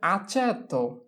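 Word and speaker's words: aceto: হচ্ছে গিরজা এরপরে হচ্ছে আচেত আচেত চে আছে চে তাহলে এইচে এর ঘরে বসবে আচেত আচেত অর্থ হচ্ছে ভিনেঘার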